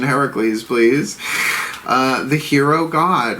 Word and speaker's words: Heracles: Heracles, Heracles, original Greek pronunciation, Heracles, please.